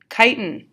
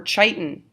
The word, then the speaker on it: chitin: i hope to poop chitin or titan there's multiple pronunciations of this that you may hear this is the exoskeleton